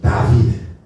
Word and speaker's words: 다윗: 다윗도 의가 아니라 위의이 소리가 나요. 그래서 다윗 다윗이 더 맞다.